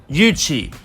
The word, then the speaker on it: Yuchi: While her Korean spelling might say Oogie, the Korean Hangul or pronunciation is of the Chinese characters in Korean. In Chinese, however, it's Yuchi.